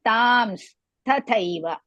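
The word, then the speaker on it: तांस्तथैव: Tams, you should say tams, tathaiva. Tams tathaiva bhajamyaham. Again I repeat, first is pronouncing as tams, tathaiva, but don't break it. Tams tathaiva, one word.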